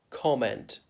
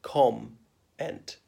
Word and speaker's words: comment: Whereas I knew one Indian journalist who used to say comment, but that's wrong. It's got to be the M has got to be part of the first syllable, com-ent. I know it's a double M, but it's not pronounced twice.